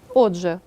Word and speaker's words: отже: дзвінки в рядку наприклад у слові от же глухий Т по-перше стає дзвінким а по-друге передшиплячим також стає шиплячим а саме африкатою д Подивіться будь ласка